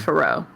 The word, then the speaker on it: Feroz: I assume her name is Spanish. They pronounce the Z in those kind of names. Right. I'm only saying that because when I've heard the announcer say it, it's Feroz.